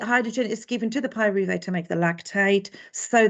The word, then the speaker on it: pyruvate: remember that we had pyruvite sorry pyruvate was made at the